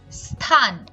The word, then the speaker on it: স্থান: দন্ত স এর স্বাভাবিক উচ্চারণ ইংরেজি এস এর মতো, যেমন স্থান, স্নেহ, কিন্তু ক্ষেত্র বিশেষে সেটা তালব্য স বা স এই ধরনের উচ্চারিত হয়।